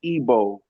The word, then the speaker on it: Igbo: So, you could look into a record and see Ibo, and that's Igbo in how they pronounced it.